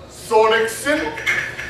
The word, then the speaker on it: Sonnichsen: to listen to now his last name rhymes with rolexen please put one hand against the other for mr tyler sorenikson what's up how you